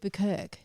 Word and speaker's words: Bukirk: listen the chooks actually do say buerk which is awesome but when I was coming up with the name I would go around and get people to say it to make sure that they'd say it right but some people would say buer and I'm like well